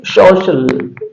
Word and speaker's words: social: उसी तरह से कुछ वर्ड्स हमने लिए हैं, उसमें पहला जो वर्ड है वो है SOCIAL, SOCIAL, इसको पढ़ेंगे सोशल।